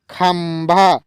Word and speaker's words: खंभा: दोस्तों यहाँ पे जो बिंदी का उच्चारण है ये हमारा म का हो रहा है, खंभा, यानी ख ऊपर बिंदी भ आकार। तो यहाँ पे जो बिंदी ऊपर है यहाँ पे म का उच्चारण होगा, यानी खंभा।